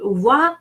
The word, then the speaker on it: voix: So voix, that's the reason we pronounce it voix, because OI is pronounced wa, and the S at the end is final consonant. It's silent.